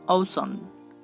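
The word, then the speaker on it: ocean: Next CE, এই দুটি লেটারও তালবশ র উচ্চারণ করতে পারে, যেমন ঔসন, ঔসন।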